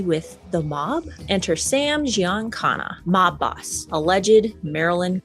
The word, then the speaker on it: Giancana: Enter Sam Giancana, mob boss, alleged Marilyn. I think it's pronounced Giancana, but that's okay, honey. Contact connected to the Kennedys. Giancana.